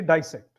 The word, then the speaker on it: dissect: American they will say dissect it's just emphasis on a different syllable desect sounds like it